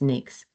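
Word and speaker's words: NAICS: codes and you'll be some people call it Nyx codes but that is the it is pronounced NAKES.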